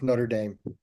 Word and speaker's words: Notre Dame: Notre Dame. The American pronunciation is Notre Dame.